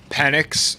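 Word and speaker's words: Penix: is pretty good mate what's his name again panics yeah that's how you say it yeah um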